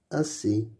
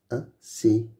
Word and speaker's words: assez: Assez. Assez. N'oublie pas que EZ, on prononce E. Assez.